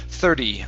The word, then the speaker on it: thirty: thirty dollar guitar okay hit that hit that t sound one more time flap flap t thirty on the thirty dollar